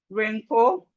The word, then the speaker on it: wrinkle: So we have right, wrist, wrong, wreck, wrap, wrestle, ran, wrinkle, wrongful, wretch, wretch, right, wrist, wrist, wrong, wreck, wrap, wrestle, ran, wrinkle, wrongful, wretched.